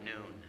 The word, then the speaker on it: Noon: The next year, so this is 2001, their physician, his name was Dr. Noon, pronounced like high noon.